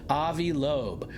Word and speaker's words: Avi Loeb: Avi Avibe. Avibe. How do you say his name? Avi Lobe.